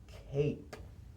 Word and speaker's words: Cape: E now it spells Cape cap no e silent E makes the vowel say its name cap Cape but we don't say the e sound Cape cap Cape pin